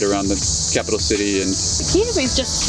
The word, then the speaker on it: Kyiv: Kiev, but how do you say it? Go ahead, Kyiv. say it. Kyiv.